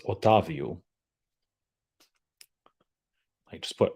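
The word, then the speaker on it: Otávio: certainly like there's got to be a better pronunciation on on that in that Prescott and it's otavio I just put o o h Tas and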